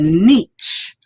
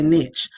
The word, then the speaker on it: niche: create and find a niche. I like to say niche, but the word is actually niche.